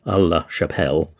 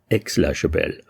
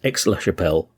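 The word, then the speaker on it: Aix-la-Chapelle: I kept getting the name wrong. I kept calling it Aix La Chapelle. And it's actually Aix La Chapelle, because it's AIX. So I've corrected myself in this episode, so it's Aix La Chapelle, in modern times probably more widely known by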